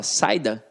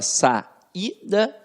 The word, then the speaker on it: saída: a sua sílaba e na própria pronúncia você fala sai da você fala saúde não você fala Sá ida e você fala Sá udi porque porque esta vogal fica isolada você fala Sá e